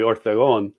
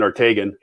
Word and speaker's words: Ortegon: sorry i never even well it's the last name officially would be orthogon but nobody uses that those sort of spanish um uh pronunciation so our whole life it's been ortegan so anything close to